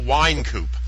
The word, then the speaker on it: Wynkoop: very special guest today is actor Joel D wine coup what's up Joel Herzog thank you you're the